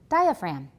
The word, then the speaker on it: diaphragm: class what is it diaphragm right we don't pronounce the G you can see this